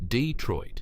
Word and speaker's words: Detroit: The real David Barnett had died in a car accident in Detroit, pronounced Detroit in 1970.